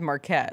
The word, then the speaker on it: Marquette: told me years ago that it was Marquette. It's Marquette, whatever you want to say it, however you want to say Like the college?